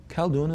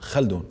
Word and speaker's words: Khaldoon: people couldn't Browns ha so I became known not as which is my name but khaldoon khaldoon is my let's say my American name so khaldoon but you actually pronounce it Sal dune again you can do that in Yiddish but not so much in the Arabic yes I found that